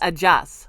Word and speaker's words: adios: Which is spelled like adios, Yes. but it's ajas. Yeah. It's pronounced differently.